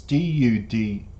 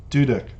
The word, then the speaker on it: duduk: But this word down here that is the title of the song is D-U-D-U-K, which if I was to pronounce it, I would say Duduk.